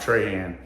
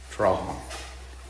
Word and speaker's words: Trahan: Is how you say this, guys. Not Trahan, Trahan.